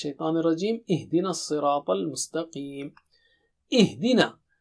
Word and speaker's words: اِهْدِنَا: Ihdina. Don't say idina. Okay. Again, hamza should be very clear and har sound also should be very clear.